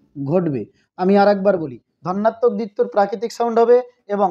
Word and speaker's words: ধন্যাত্মক: ধন্যাত্মক দ্বিত্ব উচ্চারণটা কিন্তু ধনাত্মক নয়, ধন্যাত্মক। আরেকবার বলি, ধন্যাত্মক।